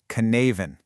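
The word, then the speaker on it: Cynefin: And here it is, the Sinophen framework. It was created by a researcher named Dave Snowden. And by the way, it's pronounced Canavan.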